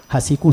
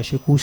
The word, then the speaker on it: Hassikou: Hassikou, c'est pas Chekouche, c'est pas.